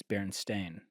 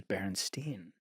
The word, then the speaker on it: Berenstain: The way it's spelled is Berenstain. Oh. But people are like, when I was a kid, I remember seeing it spelled and it and it read as Berenstein.